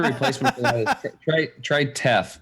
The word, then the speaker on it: teff: It's teff. Great. Teff and quinoa. TEFF. Rhymes with Jeff, so I have to get it.